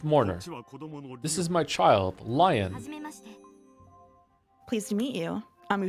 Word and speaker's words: Lion: This is my child, Lion. Pleased to meet you. I'm sure Leon Leon or Lion Leon. Leon. Like a French Leon. Leon. Basically, Leon.